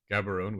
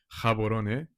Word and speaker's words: Gaborone: I mean, Botswana is absolutely tiny, and so is and so is Gaborone, which is actually not the correct pronunciation. It's actually Gaborone.